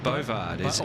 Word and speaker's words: Bovard: Bouvard would be Bouvard. Bovard is how sorry, is how you pronounce it, not Bouvard. Sorry, Bovard.